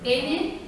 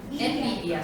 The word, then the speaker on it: Nvidia: Envidia. Envidia, sí, como envidia.